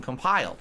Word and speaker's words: compile: Emphasis on the second syllable.